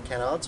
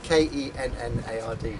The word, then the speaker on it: Kennard: We're the Kennards.